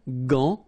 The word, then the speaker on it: gant: Remember, G-A goes like ga. Okay, g. But in that case, you've got this an, so it's nasal, gant, and then final T is not pronounced here.